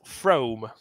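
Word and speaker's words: Frome: near me called Froome and it's spelled f-r-o-m-e it's spelled from but it's pronounced from pretty sure he had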